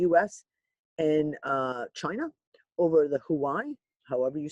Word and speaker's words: Huawei: Danny, the name is Huawei. Huawei? Okay, Huawei.